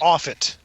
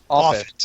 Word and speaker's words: Offutt: How is it pronounced? Offutt. Offutt. Okay. Like Moffat without the M.